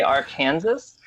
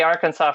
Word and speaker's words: Arkansas: the state of Kansas we still say Arkansas for the state but we say AR Kansas for the river that's unique to Kanas